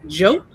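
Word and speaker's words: Diop: Jope, and spelt D-I-O-P, but pronounced Jope.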